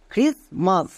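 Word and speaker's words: Christmas: আর আই এস ক্রিস এখানে টি কিন্তু silent এবার কেন সাইলেন্ট এর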